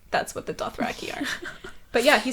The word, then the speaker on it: Dothraki: Also, fun fact, George pronounces it Dothraki, Oh. not Dothraki.